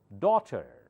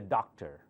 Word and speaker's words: daughter: Last R is not pronounced. Son. Okay. Daughter-in-law. Son-in-law. Repeat. They have one daughter and one son. Okay. Do not say doctor. That's medical doctor. This is daughter. Daughter. Americans say it more open.